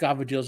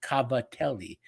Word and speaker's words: cavatelli: Those are what Italian American call cavatelli, Cavettelli. But we obviously we pronounce C's like G's and whatever.